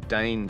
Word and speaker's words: Dáin: Diane even gets his own chapter in the appendices, and they pronounce it Dane for some reason. Dane.